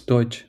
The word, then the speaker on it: Deutsch: Yeah, it's Deutsch. Nothing like. So you have this word douchebag. So not that sure, just Deutsch.